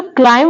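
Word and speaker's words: climb: क्लाइम means चढ़ना तो जो क्लाइम वर्ड है उसमें बी साइलेंट है यहां पे एम के पहले आ रहा है ना बी के पहले आ रहा है ना एम तो ये साइलेंट है तो यहां पे क्या पढ़ेंगे क्लाइम ओनली क्लाइम यहां पे है कोम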